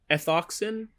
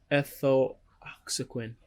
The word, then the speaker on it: ethoxyquin: Etho, how do you I have an issue pronouncing this one all the time. Etho, etho, ethoxin, ethio, ethoxyquin, ethoxyquin, ethoxyquin.